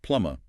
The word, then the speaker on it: plumber: So in standard British English, that B is absolutely silent, completely silent. It's pronounced plumma with a short closed vowel. And critically, no aspiration on that final B whatsoever.